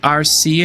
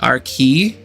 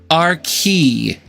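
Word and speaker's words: Arcee: Okay, so you can pronounce it RC if you want, but the transformer is pronounced RKey, and I will fight you to the death standing on that hill. It is pronounced RKey.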